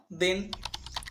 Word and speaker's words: then: THEN, টিএইচ দ, ইকারটা একারের মতো, আর পর এন, তাহলে কি হলো দ একার ন দেন।